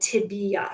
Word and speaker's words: tibia: don't pronounce this phibia it is fibula and tibia so be sure that you're pronouncing that correctly okay all right i think